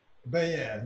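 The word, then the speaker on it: Bayyan: How do you pronounce the last name? Bayan.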